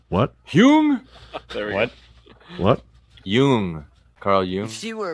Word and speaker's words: Jung: basically those guys philosophies Carl Carl Jung Yeah Carl hung what hung what what Yung Carl Yung if she were a president she'd be babraham Lincoln Yun you know Yun Abraham lincol it is Young I know I know yeah they call they